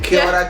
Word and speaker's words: kia ora: Kia ora koutou tamari kama.